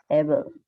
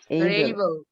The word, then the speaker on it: able: উচ্চারণটা কি যেমন এটা মেজর, বলো তো, উচ্চারণটা কি? অ্যাবল, তোমার জরিমানা হবে। উচ্চারণ কি হবে কে বলতে পারবে? এইবল, এই বল। তুমি তাহলে কেন বললা? স্যার এইবল।